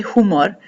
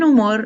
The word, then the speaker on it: humor: Here we have de buen humor, and we know the H is silent, so we would never say humor. De buen humor and de mal humor.